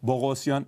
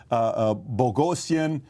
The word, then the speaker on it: Boghossian: Yeah, I tell everybody it rhymes with explosion, just to make it easy.